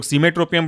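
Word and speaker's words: cimetropium: कैसे तोड़ेंगे? साई में CIME, ट्रो TRO, ट्रो, और पियम पहले से PIUM, साइमेट्रोपियम ब्रोमाइड, या ऐसे कई लोग सीमेट्रोपियम ब्रोमाइड कहते हैं। वो उच्चारण अपना अपना अलग अलग होता रहता है एसेंट की वजह से।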